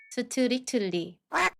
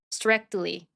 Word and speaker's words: strictly: 우선 앞쪽 C K 발음은 힘을 빼시고요. 뒤에 붙은 T를 댄 소리로 발음하면서 뒤를 부드럽게 끌어 주시면서 발음하시면 됩니다. 연습해 보겠습니다. Exactly. Exactly. perfectly perfectly strictly strctly directly directly correctly correctly 예문 한번 읽어 볼게요.